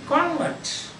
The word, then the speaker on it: convert: one he is a convert that means a person who is converted so announce if the stress is given to the first part usually in this case